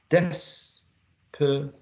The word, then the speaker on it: desperate: word some speakers use three syllables or two syllables to pronounce it desperate desperate desperate desperate right the next one it